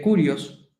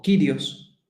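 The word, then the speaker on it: κύριος: Dios que en griego se escribe curios O kirios sí que era la forma de referirse a Dios tanto kirios o curios como deos que es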